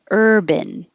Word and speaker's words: urban: Urban. Sounds just like this, which would be much easier to pronounce if it was spelled ERBIN. Urban.